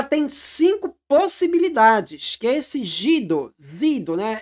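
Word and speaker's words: zsidó: Ela tem cinco possibilidades que esse gido, zido, né? Só pronuncia gido no húngaro, que quer dizer judaico.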